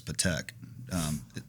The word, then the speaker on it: Patek: This probably made a couple- So is that did by the way, it's Patek.